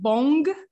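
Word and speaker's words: bom: bong but you know when we have an m at the end of a word um this m is gonna be a bit transformed into a nasal sound like it is a nasal sound so it will sound more like an n but not a complete end so it's like uh you go halfway to make an end but you stop so it do like boom you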